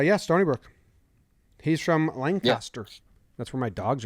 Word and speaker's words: Lancaster: were saying there's two different no just don't pronounce it like a noob it's lancaster i've never heard you say noob and i